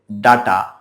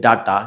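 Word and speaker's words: data: অনেকেই এটার উচ্চারণ করে ডাটা ডি এটি এ ডাটা কিন্তু ডাটা হবে না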